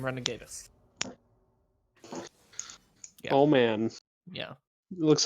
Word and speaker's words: Renegatus: for the Renegades or how does that pronounced good renegade us renegade us yes team renegade us oh man yeah looks